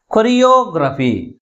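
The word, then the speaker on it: choreography: Okay, next one ఈస్ కొరియోగ్రఫీ. కొరియోగ్రఫీ. ఇప్పుడు దీంట్లో ఎన్ని సిలబల్స్ ఉన్నాయి? 5 syllables ఉన్నాయి. What are they? కొరియోగ్రఫీ ఎన్ని ఉన్నాయి? 5 syllables ఉన్నాయి. ఈ 5 syllablesలో ఏ సిలబల్ ఎక్కువ ఫోర్స్ పలుకుతుంది అంటే యో, అంటే లాస్ట్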